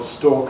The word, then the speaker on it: stork: But for me and for most English people, stork and stalk are identical.